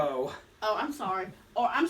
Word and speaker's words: Oro: I'm trying to figure out when Oreo decided to become, is that his name? Did I pronounce it correct? Oro.